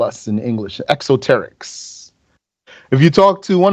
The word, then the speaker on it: exoteric: the exoteric the esoterics am I saying it right exoteric exoteric yes what does that mean